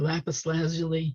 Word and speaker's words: lapis lazuli: that's made from i don't know how it's pronounced for sure lapis lazuli is that's how it's pronounced yeah yeah so